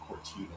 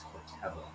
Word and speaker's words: Corteva: I realized I was pronouncing it Cortiva. It's Corteva.